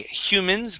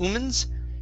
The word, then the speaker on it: humans: next is uh okay humans give me a an h sound here instead of omens hue humans humans okay very good uh